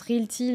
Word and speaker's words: RealT: Alors, des fois, quand je prononce Realty, les gens...